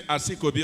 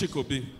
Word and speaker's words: Chikobi: We cannot pronounce it well, so we say Asikobi, otherwise it's Chikobi.